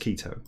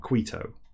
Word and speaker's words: Quito: I diced a machinist pronounced Quito and not qui toe I don't speak the